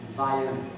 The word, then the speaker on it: Vienna: If you take a look at, we know that's Vienna, Austria, but if you were to go to this part of Oneida County, they would pronounce it Vienna.